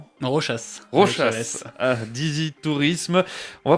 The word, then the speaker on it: Rochas: Donc Rochas, avec le S.